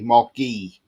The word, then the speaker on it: Guehi: Now, that's how you pronounce his name, apparently, Marc Guehi.